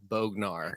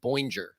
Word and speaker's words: Bognar: It's Bognar. Yeah, I want to say Bognar. Everybody It's wants just, to say Bognar. Wagner. It rhymes with Wagner in my head.